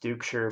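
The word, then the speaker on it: Duchscherer: last name you're gonna wonder how it is pronounced Duke sure but look it up before the video to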